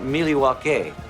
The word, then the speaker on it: Milwaukee: understands exactly what Milwaukee stands for actually it's pronounced Milwaukee which is Algonquin for the good land I